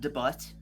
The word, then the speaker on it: debut: It's actually pronounced debut.